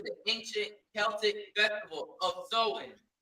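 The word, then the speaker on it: Samhain: date back to the ancient Celtic festival of seen. The ancient Celtic festival of seen, right? It's spelled s a m h a i n, but it's a it's an ancient it it's pronounced soen.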